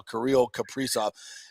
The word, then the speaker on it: Kirill Kaprizov: And I had to ask my man Nick here how to pronounce Kaprizov's name as well, Kirill Kaprizov.